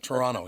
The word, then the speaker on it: Toronto: Yeah, and people from Toronto, we don't pronounce the second T. That's like a Toronto, yeah. Yeah, we don't. We just ignore that second T, honey.